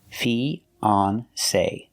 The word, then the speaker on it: fiance: Fiance, the same pronunciation. E, the long E like green beans. Fee. Then the second syllable is on. On like on and off. Fion. Fiance, with a long A like say or pay. Say. Fee-on-say. Fiance.